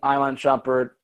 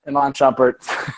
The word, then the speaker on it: Iman Shumpert: We know that we're missing Iman Shumpert. I did it again. Iman Shumpert.